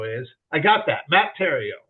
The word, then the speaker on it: Theriault: idea of who Matt Theo is I got that Matt Tero it's Tero yes the H is silent too the H is